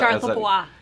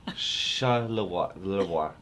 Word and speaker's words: Charlevoix: Now you're gonna have to pronounce the name again. I just know it's out. Charlevoix. Club Med Charlevoix. Charlevoix.